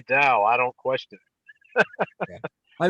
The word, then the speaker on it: Dao: we'll transliterate it as d-a-o wade giles would transliterate it as t-a-o you're still supposed to pronounce it dao but people see a t and just say t so they say tao and then you have